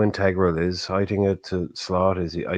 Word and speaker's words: Heitinga: Heitinga, I think that's how I pronounce his name. Johnny Heitinga, yeah. Heitinga.